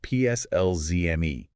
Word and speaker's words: PSLZME: We're talking about a patent pending framework called PSLZME. And just so everyone is clear on the pronunciation, we'll be saying that as personalize me. Yes, personalize me.